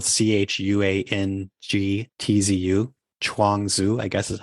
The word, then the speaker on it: Zhuangzi: If you pronounce it like Zhuangzi, you're more likely to say it in a way that speakers of Mandarin Chinese will recognize.